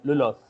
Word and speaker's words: lulus: we used to call normally we used to call lulus. So from now we used to Yes. call lulos, lulos.